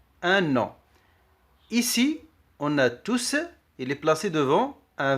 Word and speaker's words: tous: Il s'écrit tous au masculin pluriel. Il s'écrit tous au masculin pluriel. Le S final s'entend à l'oral.